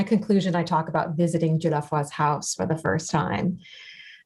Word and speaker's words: Dieulafoy: And on the other hand, and Rachel, forgive me, I'm not going to pronounce the surname correctly, Dieulafoy? Dieulafoy, yeah.